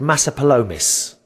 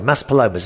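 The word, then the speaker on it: Maspalomas: stayed in place called massa palomas i think that's how you say it palomas mas palomas sorry mas palomas that's where i stay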